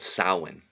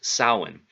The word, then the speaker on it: Samhain: Celtic Festival in a pre-christian Celtic Festival called Sawin which looks like it's spelled Samhain s a.m. h AI n but it's pronounced soin and it's an old irish it means summer's